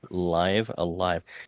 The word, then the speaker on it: Live A Live: game you know that the way that you pronounce the title has been a point of debate and speculation and solstice you can confirm it is live alive right it is indeed live alive you know they actually